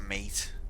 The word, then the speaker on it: M8: So you pronounce that mate, Scarlet.